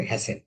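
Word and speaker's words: hasten: আচ্ছা, তো এইরকম যেহেতু হ্যাস্ট, এখানে ইএন লাগে হ্যাসেন, তখন উচ্চারণটা হবে হ্যাসেন।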